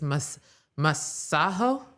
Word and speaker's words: Masego: I believe it was this week where he was performing and he basically was like, "The Americans, they're so dumb. They've been pronouncing my name wrong. is masahaho.